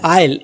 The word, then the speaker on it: aisle: Next word है आइल, AISLE, आइल, यहाँ पर S साइलेंट है, इस चीज़ का आपको ध्यान रखना है, इसको हम प्रोनाउंस करते हैं आइल, AISLE, आइल जिसका मतलब है गलियारा या फिर रास्ता।